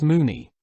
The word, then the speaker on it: Mona: However, in this Welsh lady's case Mona was, I believe, pronounced as Moony.